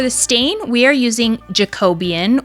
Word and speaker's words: Jacobean: stain we are using Jacobian which for 4 years I have been pronouncing this jacob beine which is just hilarious and embarrassing um so I'm going